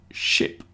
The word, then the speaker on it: ship: And then ship, the one that goes on the ocean is a ship with a short I in the middle.